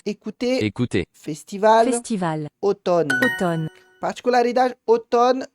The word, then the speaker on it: automne: automne, Particularidade, outono, eu não pronuncio o M, eu pronuncio somente o N, d'accord?